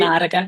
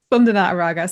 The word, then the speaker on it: Spandana Araga: Is that pronounced correctly, Spandana? Yeah, that's Yeah, correct. great. Spandana Araga. Yeah. Spandana Araga.